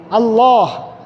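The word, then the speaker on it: الله: কারণ নাম হলো আল্লাহ। নাম কি? আল্লাহ। লাম সাদ্দা যুক্ত লাম আলিফ মানে খারা জবর এরপরে হা এর মাখরাজ হলো এখানে কন্ঠনারের নিচের অংশ আল্লাহ আল্লাহু আকবার এখন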